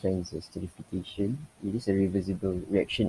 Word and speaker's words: transesterification: process that i perform and transfer sterification is pronounced transesterification it is a revisible reaction in which one